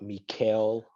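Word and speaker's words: Mikal: Are you talking about Mikael of the Phoenix Suns? Oh, Yes. his name Mike. Oh, Yeah, I thought it was Michael too. it's it's spelled Michael, but from how I hear it, it's Mikael.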